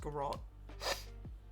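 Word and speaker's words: Garratt: It's pronounced garrot.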